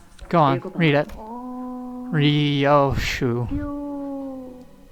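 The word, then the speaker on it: Ryōshū: Ryoshu. No, that's not how you read those letters. That's how you say it. It's prettier and easier.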